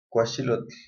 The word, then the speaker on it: cuachilotl: En este caso su pronunciación es cuachilotl. La pronunciación de la L es un sonido bajo, un sonido suave.